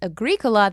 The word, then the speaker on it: Agricola: It's Agricola. The O is short by nature and position, so the accent is on the antepenult.